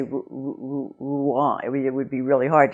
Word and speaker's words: Rouen: to say it correctly because if you substitute the English r, number one you're going to definitely identify yourself as an English speaker because I don't think any other language but our language has that "er" sound in it and in the second place it's the, the "er" sound in French is really quite grating and very unattractive sound in the French language so you don't want